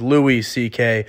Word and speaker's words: Louis C.K.: And I just realized I've been saying his name wrong. It is Louis C.K.